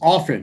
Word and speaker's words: often: It's often. The T is silent.